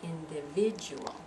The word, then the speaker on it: individual: we've got the word individual individual let's see individual individual so we've got four syllables their individual and that vit is the one that stressed isn't it individual let's go down